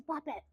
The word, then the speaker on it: Babette: how to pronounce it my name is pronounced the French pronunciation is puppet my mama pronounced me bad bit so every time I